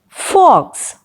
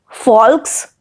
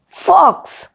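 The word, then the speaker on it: folks: the next word is fox fox here please take care that the letter l is silent so you will not pronounce it as false but it is fox the meaning of fox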